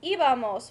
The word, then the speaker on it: íbamos: Ir is one of our irregular verbs, so it's going to be íbamos with an accent on the I.